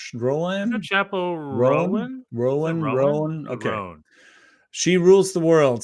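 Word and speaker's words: Chappell Roan: And anyway, since Chappell, what is her name pronounced like? Rowan? Chappell Rowan? Rowan. Okay.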